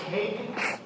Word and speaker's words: Haig: Sean, this is Haig. Am I pronouncing that correctly?